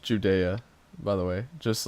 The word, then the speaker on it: Judea: And this is pronounced Judea, by the way.